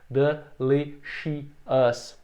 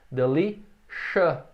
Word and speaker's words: delicious: Um erro comum também é separar isso em 4 sílabas, mais ou menos assim. Delicious, que não está correto. Porque essas 3 vogais aqui e o U, elas produzem um som só, que é o A.